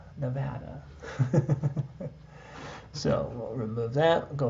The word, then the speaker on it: Nevada: And that's the way you pronounce it, folks. Nevada.